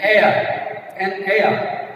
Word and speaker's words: heir: Even though this word H begins with H, since it is silent, vowel sound is pronounced here. You can observe vowel sound. An heir.